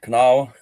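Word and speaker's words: Kanawha: It's Canawa.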